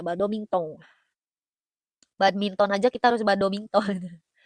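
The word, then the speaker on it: バドミントン: Badomintong ya cara bacanya badomington.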